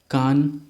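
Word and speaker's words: Cannes: इसको कान पढ़ते हैं. हिंदी में बहुत लोग कान्स क्या देते हैं, बट the correct pronunciation is कान.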